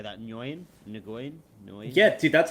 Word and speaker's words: Nguyen: Nguyen. Yeah, dude, that's how I That. thought it was pronounced. It's just I How guess do in you pronounce it? Vietnamese it's just Win, like WIN, Win.